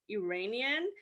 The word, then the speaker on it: Iranian: In the United States, the correct way of saying someone who is from Iran would be Iranian.